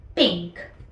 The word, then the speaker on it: pink: Se pronuncia como se escribe y es pink.